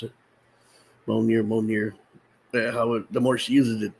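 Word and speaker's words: Mjölnir: I guess that's how you pronounce it. Mjolnir.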